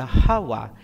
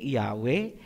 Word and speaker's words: Yahawa: Ang pangalan ng Ama ay Yahawa. Hindi Yahwe, hindi Jehova, hindi Ahaya, hindi Yahova at lalong hindi Jesus Christ. Lahat yan ay Babilonian masuretic na bigkas.